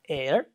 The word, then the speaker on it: heir: So there are some words, for example, HEIR, air, SONOUR, honor, although they begin with H later, okay, they are not pronounced like her.